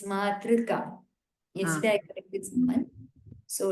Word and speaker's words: मातृका: What I am specifying is, specifically I am saying do not pronounce it as U, not through, but thr. There is no U ki matra there, but it is r only. Thr.